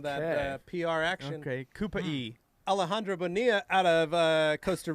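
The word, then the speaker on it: Cupey: Ricky Colon, Cupie pronounced Kupai, Puerto Rican suburb.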